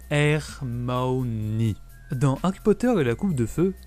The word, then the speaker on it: Hermione: de son nom pour Victor krumb qui se prononce hermaoni dans Harry Potter et la coupe de feu